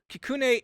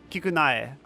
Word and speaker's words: Kikunae: What's AE at the end of K-I-K-U-N? K-I-K-U-N-A... Hold on. Spell it out. K-I... My favorite letter, Ki. K-I-K-U-N-A-E. Kikunae. Kikunae. Yeah. Ikeda. Kikunae.